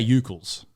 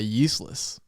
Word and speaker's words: Ucles: I say Ucles. I thought you used to say useless.